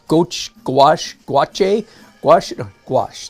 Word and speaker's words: gouache: it anyway but the word the answer is gouache not Gooch gouache watch a wash it wash just like squash